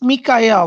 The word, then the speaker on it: Mikael: It's Mikael, like Michael, but he pronounces it Mikael.